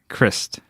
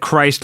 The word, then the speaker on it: Christ: And then last but not least, this is the correct way to say it. Yes. It's Doug Christ. Doug Christ. We said Christ last time. He's like, no, that's right. It's not like Jesus.